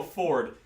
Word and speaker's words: Fjord: There's one of the players is playing a half orc named Fjord, but he's always pronounced as Ford, and he's got like that the very deep Southern accent. And and he says it Ford, but it's and I'm just like, this is weird.